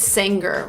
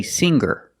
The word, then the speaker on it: singer: we don't say singer. The G is not pronounced with a hard G sound. Singer is not correct. We say singer. Make a nasal sound with the ng.